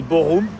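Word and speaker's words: Bochum: Boum en fait ça se dit Borou même si ça s'écrit Boum.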